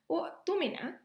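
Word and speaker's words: اؤتمن: The next word shown here, u'tumina, and it is pronounced this way because it is a passive form 8 verb.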